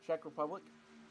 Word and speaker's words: Czech Republic: It's the Czech Republic.